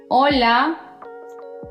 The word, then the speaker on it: hola: Si pronunciaste hola, huevo, hermano, alcohol. Bueno, felicitaciones, todo bien. La H en español no tiene un sonido, es muda. No importa dónde esté posicionada, simplemente no se pronuncia, excepto cuando hay una C delante de la H.